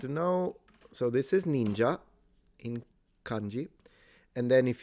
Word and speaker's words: ninja: Uh, the Japanese do pronounce the I like we do in romance languages.